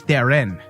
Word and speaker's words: Theron: on an interview yesterday it's Charlize Theron that on she's always helped